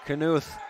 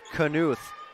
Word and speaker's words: Knuth: Knuth, three-pointer, cannot connect on that and out of bounds. And I will say, I think I am pronouncing it wrong. It is Grace Knupp and Lindsay Knuth.